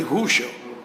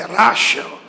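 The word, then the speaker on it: Russell: ISO e aquilo eu me recordo que pronunciei errado Bertrand rusel é rashel eu não pronunciei o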